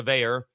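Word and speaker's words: Veilleux: It's more pronounced American, although it's spelled like a Cajun name, but it's pronounced Bayer.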